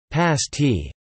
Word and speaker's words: pasty: The pasty, pronounced pasty, a kind of meat turnover originally brought to the region by Cornish miners, is popular among locals and tourists alike.